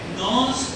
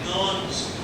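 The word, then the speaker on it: Nernst: इस हमारे पोटेंशियल को कहा जाता है नॉन्स पोटेंशियल। ठीक है, यहां पे लिखेंगे इस पोटेंशियल को कहते हैं नॉन्स। ये जो दूसरा एन है इसको साइलेंटली प्रोनाउंस किया जाता है।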